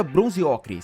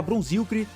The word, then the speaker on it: bronziocre: do bronziocre no YouTube e sim se pronuncia bronziocre se você fala bronzi tá errado no vídeo eu explico